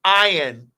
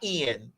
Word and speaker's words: Ian: you got ion it's Ian not Ian well it's spelled Ian everybody else that who spelled their name i a n pronounces it Ian it's Ian not Ian then turned away I